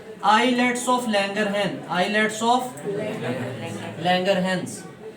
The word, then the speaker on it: islets: उन सेल्स वाले हिस्से को हम बेटे नाम दे देते हैं आइलेट्स of Langerhans. आइलेट्स of Langerhans, आइलेट्स ऑफ, आइसलेट्स नहीं पढ़ते इसको, एस साइलेंट होता है, आइलेट पढ़ते हैं।